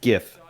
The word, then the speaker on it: GIF: Yes, it's pronounced GIF. I don't care what anybody says.